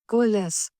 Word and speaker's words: COALESCE: कोलैक्स, इसका यार पहले इसका ना वो डालो, इसका क्या कहते हैं, इसका प्रोनाउंसिएशन क्या है, अभी सुनते थे। कोलेस। कोलेस, ठीक है भाई, हमेशा।